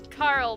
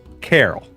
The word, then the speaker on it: Carol: Carl, but in a car. Carl. Guys, you keep saying it wrong. It's Carol.